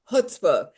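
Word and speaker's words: chutzpah: Annie humor heart and hootspa from an accidental influencer I said that word right did I oh you almost got it how do you say it because I was saying CH it's hutzpah it's Anish word that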